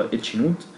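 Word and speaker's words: H₀: نون هايبوثيسيس اللي هو الفرض الصفري اللي هو اتش نوت, بيتكتب اتش او زي ما انتم شايفين كده, ولكن هو ينطق اتش نوت.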